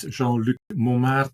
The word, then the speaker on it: Jean-Luc Mommaerts: So, my name correctly pronounces Jean Luke Mum, but you can call me Jean Luke of course if you like it's bit like lucky look.